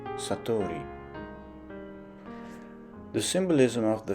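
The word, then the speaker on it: 悟り: character for awakening, which is known by the Japanese pronunciation Satori.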